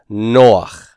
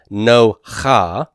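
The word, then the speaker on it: נח: It's not no ha. It's not no ha. It's noach. Noach.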